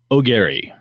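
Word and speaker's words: Aguirre: Forrest wrote in last episode, I butchered Forrest's last name, and it's spelled Agguire. And Forrest was kind enough to give me a pronunciation that's O'Gary. So it's Forrest O'Gary.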